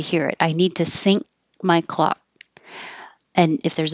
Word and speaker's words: sync: Sync, whether it's spelled this way with the YNC, which means at the same time, or sink, like the kitchen sink, sound exactly the same.